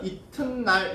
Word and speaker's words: 이튿날: 그러면 발음은 어떻게 해야 돼? 이틀날로 해야 돼? 지금 디귿 돼 있으니까 비음화해서 이튿날 이렇게 해야 돼. 이튿날 해야 되지 않을까요? 써있는 게 지금 디귿 라인이니까 비음화 거쳐가지고. 그러죠?